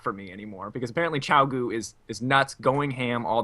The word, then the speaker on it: Qiao Gu: Qiao Gu.